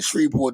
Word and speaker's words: Shreveport: even DJ Envy he just now starting to pronounce in shreport the correct way after a month it took